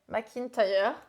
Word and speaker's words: McIntyre: McIntyre. Ouais, hier soir, j'étais en train de dire comment ça se prononce. Je voulais chercher, j'ai oublié. C'est un nom irlandais. Ah. C'est Mac.